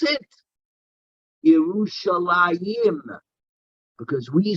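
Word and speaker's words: ירושלים: but how do we reply how do we pronounce it yerushalayim because we say that there are two jerusalems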